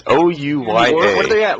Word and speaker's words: Ouya: It's pronounced fail. I don't know. It's Ouya.